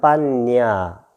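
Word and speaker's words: paññā: 이걸 발음할 때는 빤냐.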